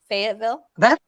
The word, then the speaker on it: Fayetteville: Is that how you say it? Fayetteville. What a great name for a setting for a cozy, Fayetteville. I love that. Like being in a fate or at a fate or something.